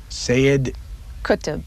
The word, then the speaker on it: Sayyid Qutb: The third one on the list, help me pronounce it, is it Sayyid? Sayyid Qutb. Sayyid Qutb.